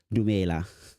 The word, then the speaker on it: Dumela: Manjawa Thandi, welcome to WiVo Legal Tech for Africa, Dumela.